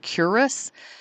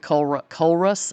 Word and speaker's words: Culross: was a place that I kept calling Culross, but the guide that was driving us this day said he always pronounced it Curus, but then another guide from another tour pronounced it Culrus. So who knows? Maybe it's just an accent thing.